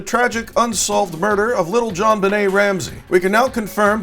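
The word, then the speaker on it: JonBenét: Night johnette P is aggravating she repeatedly says John Bennett instead of John Benet pronounced Benet if you're going to narrate a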